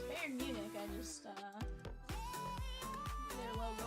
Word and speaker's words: Bayern Munich: I kept thinking I was saying it wrong because of the way it's spelled and I'm like, "No, it's Bayern Munich."